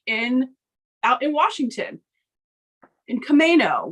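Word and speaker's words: Camano: out in Washington in commo which I still think is far more fun to say commando but I'll say it correctly commo Island I hope you all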